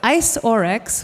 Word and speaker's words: iceoryx: who is going to talk to us about ice orex which I now know how to pronounce.